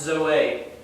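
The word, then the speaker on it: ζωή: Zeta, omega, eta, that's pronounced Zoe.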